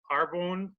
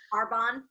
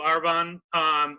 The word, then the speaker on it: Arbonne: works with a company called Carbone Arbonne sorry I was mispronounced a Arbonne thank you our bond which is really great